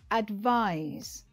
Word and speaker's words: advise: should do advice is usually said like this advise stressing the second syllable advise now you try it good when